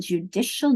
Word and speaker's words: judicial: But that CI is making a sh sound here.